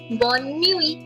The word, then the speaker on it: bonne nuit: Please make a note of the sound that U in French is ew.